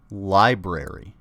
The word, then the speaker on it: library: they at the library it's pronounced library does that does me